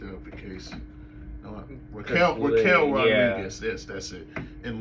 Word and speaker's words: Raquel: Judgment Day, in terms of Roxelle. That's her name, right? Did I say her name right? I mean, you looked it up in case. No, Raquel Rodriguez.